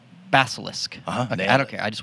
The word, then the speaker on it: Basilisk: now tell me again how to say it basilisk basilisk i don't care i just want to eat